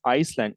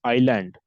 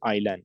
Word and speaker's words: island: or poaching it's not Iceland it's Island okay s is silent okay it's pronoun pronounced as Island okay so wildlife sanctuaries